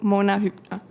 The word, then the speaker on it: Mona Hübner: O sea, yo me llamo Mona Hypna.